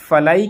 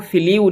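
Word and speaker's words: flew: Students, ये फलाई की second form है फ्लू, इसको फ्लीव नहीं पढ़ेंगे, इसको फ्लू पढ़ेंगे, यानी प्रोनाउंसिएशन ये वाला बनेगा, FLOO, फ्लू, फ्लू पढ़ेंगे इसको, फ्लू, और उड़ गए, अवे, दूर।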